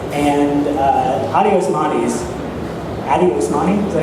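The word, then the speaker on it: Addy Osmani: And Adi Osmani, is that how you pronounce his name?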